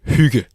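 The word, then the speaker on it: hygge: So it's pronounced huga.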